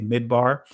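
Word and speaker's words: מדבר: here right apologies uh this is backwards it's Mata bar so I'm gonna say mid bar in the Israeli pronunciation of it but the premium root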